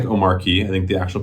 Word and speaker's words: Omarchy: So Omarchy, it looks like Omarchy. I think the actual pronunciation is Omarchy. I think the R is silent.